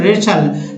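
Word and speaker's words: wrestle: एक और वर्ड है रेचल, चूंकि डब्लू पहले से ही नहीं पढ़ा जाता है, आपको मैंने कल वाले वीडियो में बताया था कि डब्लू का उच्चारण नहीं होता, WR से स्टार्ट होने वाले किसी वर्ड में डब्लू का उच्चारण नहीं होता, तो रेचल। वैसे भी टी का उच्चारण इसमें भी नहीं हो रहा, तो रेचल मीन्स कुश्ती करना।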